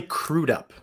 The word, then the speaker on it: Crudup: to make sure because I assumed it was going to be Crudup, and I was like, it's probably not Crudup because that sounds a little weird. I'm sure there's a different pronunciation. So then I looked it up, and I saw an interview where he said it. So it's Crudup.